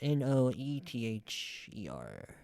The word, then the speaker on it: Noether: It's Noether. Emmy Noether.